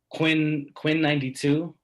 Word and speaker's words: Quinn XCI: So I've been listening to Quinn 92. It's spelled really weird. It's Quinn XCI. It's Roman numerals. Perfect. 92.